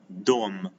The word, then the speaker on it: дом: A house as a word in Russian, it is dom. We pronounce it as dom, as an individual word, without adding such things like in.